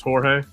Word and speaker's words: Jorge: Like Jorge is spelled with a J, but it's Jorge.